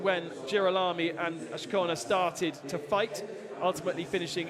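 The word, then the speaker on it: Azcona: I've been pronouncing it wrong all season. I've got the inflection in the wrong place. Michael Ashkona.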